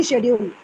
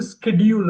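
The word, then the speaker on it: schedule: வெர்ப கொண்டுவெல் busy busy ஷெடியூல் ஷெடியூல்னு British காரங்க பேசுவாங்க ஷெட்யூல் Americans வந்து ஸ்கெட்யூல் அப்படிம்பாங்க அந்தஹச் உச்சரிப்பாங்க அமெரிக்கன்ஸ் பிரிட்டிஷ்காரங்கஹச் உச்சரிக்க மாட்டாங்க ஐ ஹவ பிசி ஸ்கெடியூல் அப்படின்னு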